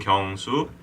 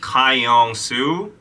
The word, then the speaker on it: Kyung-soo: The Korean pronunciation would be Kyung-soo. But like because Americans don't know how to pronounce it, they would always get it messed up. Like Kyung-soo, Yeah, it's hard.